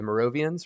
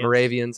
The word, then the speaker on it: Moravians: morovians right um and i always pronounce it wrong isn't it moravians i apologize so we got the moravians i knew i i knew it but the wrong emphasis in the wrong syllable um but uh uh